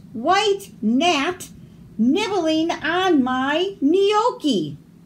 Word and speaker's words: gnocchi: G is for gnocchi. The gnome yells, "Waiter, there's a bright white gnat nibbling on my gnocchi." The silent G.